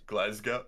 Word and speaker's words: Glasgow: that place name again tim in that glass glasgow glasgow glasgow nailed it perfect i laugh because i totally pronounce it correctly and it's like oh boy